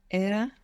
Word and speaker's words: era: And if we pronounce era as if it was Spanish, we get Era.